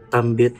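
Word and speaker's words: tạm biệt: Tambit parang gambit 'di ba gan'n?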